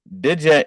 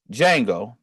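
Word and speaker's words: Django: Fox in the movie de J or yango D Jango rather got to pronounce it right don't want to be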